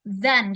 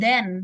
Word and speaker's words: than: Lalu di sini TH-nya itu berat, than. Jadi bukan then, no, tapi than. Jadi dia harus berat TH-nya.